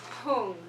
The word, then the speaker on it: hung: It should say hung, not hung. It's H-U-N-G, not H-U-M, where you see this seed syllable up on the upper right-hand side.